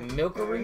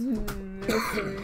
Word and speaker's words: Milcery: Is that Milkery? Milcery? It's Milcery. How do you say that?